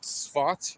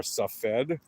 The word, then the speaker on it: Tzfat: And by the way, in the city of Tzfat, or Safed, or Safat, depending on how you want to read it or pronounce it or write it, it's a mystical town in the north of Israel.